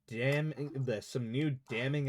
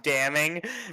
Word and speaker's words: damning: Doesn't he usually jump up with an objection and some new damning evidence? I love how you tried to pronounce the N in damning, and you just brain shut off.